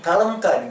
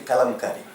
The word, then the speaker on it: Kalamkari: They do not know how to pronounce it. Okay. Kalamkari they are saying, Okay. but this is the Kalamkari.